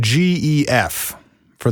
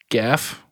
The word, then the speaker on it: Gef: and we're going with GEF for the spelling of that. Yeah, and technically speaking, it's Geff. It's a hard G. It's goat or Gaelic.